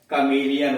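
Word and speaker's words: chameleon: लेकिन ये अपवाद हो गए, कमेलियन हुआ, के आस हुआ, कैरेक्टर हुआ, कारिज्मेटिक हुआ और करिश्मा हुआ, केमिस्ट हुआ, ये सब उसके अपवाद हैं।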